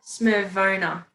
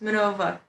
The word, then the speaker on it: Smirnova: Like vodka Smirnova. Smirnova, okay. Oh, really good. Smirvona. Smirnova. Smirnova. Yes, you can roll your R. Smirnova. Yes, Smirnova. Yes, that's perfect.